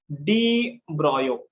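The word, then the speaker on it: de Broglie: काय म्हणायचं याला, त्यांनी याला काय म्हणलंय, याला तुम्ही प्रोनाउन्सिएशन करा डी ब्रॉयो, डी ब्रॉयो असं प्रोनाउन्सिएशन करा.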